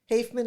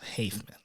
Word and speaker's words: Haffeman: Haffeman is what it is. Haffeman.